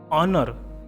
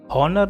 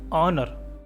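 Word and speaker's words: honour: Honest man, ऑनर, हॉनर नहीं, ऑनर, ओ से पढ़ेंगे, ठीक है।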